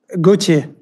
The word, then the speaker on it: Gauthier: honey is is am I pronouncing your name? So how do you how do you say your name? Gucci.